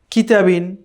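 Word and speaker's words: كُتُبٌ: বা দুই পেশ বুন তাহলে কি হবে কাফ পেশ কু তা পেশ তু কুতু বা দুই পেশ বুন কুতুবুন কেমন এরপরে তিন নম্বার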